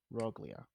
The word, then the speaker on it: Roglia: And it's spelled R O G L I A. Rogia.